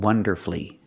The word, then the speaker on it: wonderfully: Masterfully and beautifully and wonderfully. With these words, the stress is on the first syllable and you have two syllables before F-U-L-L-Y. That's when the U is silent.